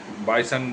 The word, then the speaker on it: Bison: রিভি বস চ্যানেলে তো আমি অলরেডি বলেছিলাম যে বাইসান দেখতে যাব একচুি আমি ট্রেলারে ভুল উচ্চারণ করেছিলাম তার জন্য ক্ষমা চেয়ে নিচ্ছি মুভির